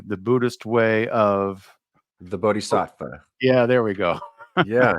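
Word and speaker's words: bodhisattva: way of and I you're gonna have to pronounce it for me the Buddhist way of the bodh SAA yeah there we go yeah that well sure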